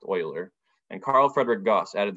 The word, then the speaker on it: Euler: Imaginary number is not fully accepted as a useful mathematical concept until Leonard Euler, it looks like it's pronounced Euler, but it's actually pronounced Euler, and Carl Friedrich Gauss added their own contributions.